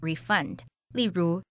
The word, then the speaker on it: refund: 大多数商家都会要求你出示发票才能退款。另外，这个字也可以当动词，做动词时要念作 refund。例如，The shop owner promised to refund the money